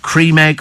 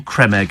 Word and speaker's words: Creme Egg: ago didn't we on is it Cream Egg or Creme Egg and it's spelled creme as in c m e so consequent it's a Creme Egg and Steve says Ron